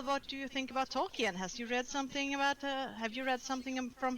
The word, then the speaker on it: Tolkien: But also in English, the pronunciation is Tolkien.